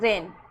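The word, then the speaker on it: reign: क्योंकि एन से पहले हमें जी दिख रहा है। तो यहां पे जी साइलेंट है। जैसे रेन। अब इसको रेगन नहीं पढ़ना। यह है रेन।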